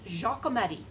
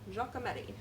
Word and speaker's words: Giacometti: I'm saying it right but I think it's Giacometti Giacometti we think he's actually Italian but he was